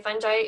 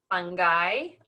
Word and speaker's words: fungi: Most fungi are multicellular. By the way, fungi is also correctly pronounced fungi, also fungi and fungi. So 4 different pronunciations of that term.